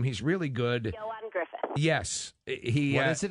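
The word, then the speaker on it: Ioan: And how do you pronounce this actor's name? He's really good. Yoan Griffith. Yes. What is it again? Yoan. Okay. Y-O-A-N.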